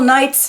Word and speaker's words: knight: a night the noble knights knife knit the knaves knee with all these silent K is a knight and knife and knave and me L is not for